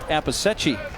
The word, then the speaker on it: Appicetti: The name Appicetti can be difficult to pronounce. It has led to a few different nicknames for Connor, including applesauce. but it's pronounced Apisechi.